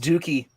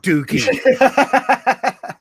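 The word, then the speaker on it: Douki: most would be kanemaru desperado and dokey it's pronounced Dukey it's not Dookie that's Lexi Lexi that's why he doesn't that's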